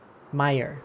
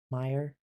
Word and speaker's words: Meyer: Meyer. Ah. Thank you. This is the second time I've been told how to say that. Meyer. Like stabs, like fire, but with an M.